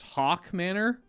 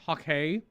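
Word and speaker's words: Haukke Manor: within the walls of apparently this is just pronounced hawk manor not hawkey i think we might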